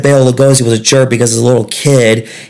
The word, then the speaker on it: Bela Lugosi: He said Bela Lugosi was a jerk because as a little kid, he mispronounced his name, accidentally calling him Mr. Bailey Goosey.